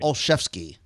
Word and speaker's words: Olszewski: Robert Olszewski. Stop it! You're hurt. I know the man, and you're hurting me on behalf of him. It's Robert Olszewski.